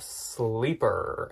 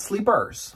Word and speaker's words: Sleeper: So this is a brand called Sleeper, and it is spelled just like it sounds, like sleeping with an ER at the end. Not Sleepers.